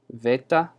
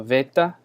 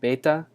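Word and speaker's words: βῆτα: trying to say sorry this one would be spelled vetta phonetically so vetta a lot of people um will say this with a ba like beta but in modern Greek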